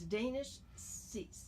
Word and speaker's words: Danish Sheikh: It's Danish Sheikh. Right, Danish Sheikh. Mm-hmm. So even though I say Danish, it's Danish. It's spelled the same way as Danish, okay. Yeah. But it's Danish.